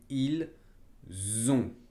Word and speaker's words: ils ont: Hay que tener cuidado con la pronunciación del verbo être. Por ejemplo, se dice ils sont. Y con el verbo avoir, porque se dice ils ont. Es muy sutil, pero la diferencia es enorme.